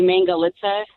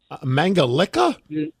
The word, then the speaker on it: Mangalica: We have a special Hungarian pig called a Mangalitsa pig or Mangalica pig. Mangalica? Yes, that's how they say it overseas.